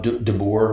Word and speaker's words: DeBoer: From what I'm hearing from some Alabama people that I know, they really like this hire of DeBoer. Right. Am I saying it right? Yeah, Kalen DeBoer, that's right.